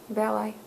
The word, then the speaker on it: Valeii: Valeii.